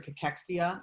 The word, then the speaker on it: cachexia: uh they have cancer cachexia which i always spell out for people it's c-a-c-h-e-x-i-a is how it's actually pronounced and so we know